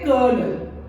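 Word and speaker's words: colonel: my husband is अ कर्नल तो वो spelling है उसकी कोलोनल पर हम उसको बोलते हैं कर्नल चच चच को हम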